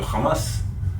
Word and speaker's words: Hamas: si il parl anglais tu dis how c'est le H se prononce et du coup c'est pas Hamas c'est Hamas il faut dire qu'il